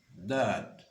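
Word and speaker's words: ض: Donc, third, third, third, third et dad, dad, dad. Pour prononcer le dad, vous mettez, n'est-ce pas, les deux côtés de la langue dans les molaires.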